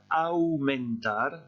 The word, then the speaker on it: aumentar: Ensuite, j'ai mis le verbe, attention à la prononciation, le verbe aumentar, j'ai exagéré la prononciation exprès. En français, ça veut dire augmenter. Et vous voyez la différence de prononciation qu'il y a entre AU en espagnol et AU en français. En espagnol, on a deux sons, AU, et en français, on a un seul son, O.